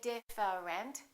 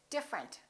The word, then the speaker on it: different: look at this one we don't say diff rent we say different the e disappears different